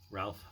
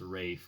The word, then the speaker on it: Ralph: voldemort who was also in schindler's list uh ralph finds i know it's pronounced rafe but i really don't care to me it's